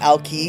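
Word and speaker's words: Alki: And it was the and at that time people did call it Ali Beach. Um and but the temperance movement i.e. no alcohol they started to specifically call it Alkai.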